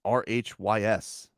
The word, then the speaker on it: Rhys: not the y is it's pronounced like i yeah jackass you know